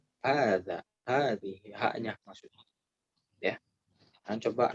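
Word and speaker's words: هذه: Karena dibacanya panjang meskipun ditulisnya pendek. Hadza, hadhihi, haknya maksudnya.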